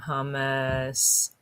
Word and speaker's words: hummus: So say it like Homer, hummus, my homemade hummus.